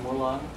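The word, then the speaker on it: múa lân: There's also something else called the dancing lion, which is pronounced mulang.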